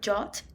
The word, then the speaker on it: JWT: seja o mais famoso ele é pronunciado Jotta em inglês e significa Jason web